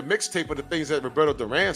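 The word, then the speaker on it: Durán: I mean, they should make a mixtape of the things that Roberto Duran said. I'm sorry, Roberto Duran. Gotta say it like how they say it. Roberto Duran.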